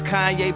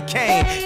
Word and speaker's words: Kanye: Now all I need is y'all to pronounce my name as Kanye, but some of my plastic still say Kane.